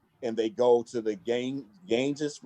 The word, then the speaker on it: Ganges: dressed in red and they go to the Ganges. How do you say that? Ganges Ganges, River.